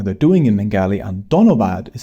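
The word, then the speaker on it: ধন্যবাদ: Tumi ke monacho is how you ask someone how they're doing in Bengali, and donobad is how you say thank you.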